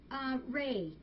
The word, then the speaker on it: Rhea: Ray, which her name is spelled R-H-E-A.